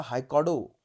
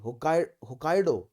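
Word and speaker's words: Hokkaido: जुड़ता हुआ जापान का हाइकोडो, हाइकोडो ही बोलते हैं ना, ठीक है, हम pronouncing it right, yes, sorry, होकाइडो। Japan 4 islands से बना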